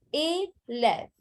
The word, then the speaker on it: élève: It has an accent aigu and then an accent grave. So the pronunciation is A and F. So A left. A left.